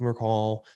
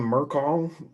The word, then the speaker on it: Merkel: Hey, speaking of, you pronounce her name Merkel? Oh boy, did I frack a well again? Oh no, because I call her Mackle.